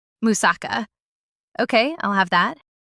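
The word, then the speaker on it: moussaka: H I'll try this musuka. That doesn't sound quite right. Musaka. Musaka.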